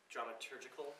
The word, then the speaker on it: dramaturgical: And they just welcomed us in, and they've been completely supportive of this project going back to dramaturgical information, is how you say it? Dramaturgical. Yes, it's hard to pronounce.